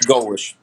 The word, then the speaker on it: Golesh: Is it Golesh? Is that how you say it, or Golish? Golish. Golish.